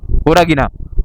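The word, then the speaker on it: Horagina: हमारा जो डेस्टिनेशन है होरागीना बेटा होरागीना एच ओ आर ए जी आई एन ए होरागीना मैं शायद पहले गलत प्रोनाउंस किया था।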